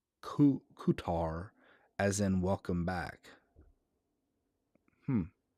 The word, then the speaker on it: Qatar: cutter qatar kater okay a qatar is actually pronounced ku kutar as in welcome back hmm i think maybe